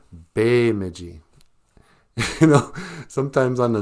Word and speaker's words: Bemidji: in a jib way when you see the letter e it's pronounced a like in the word Ojibwe oj ib w e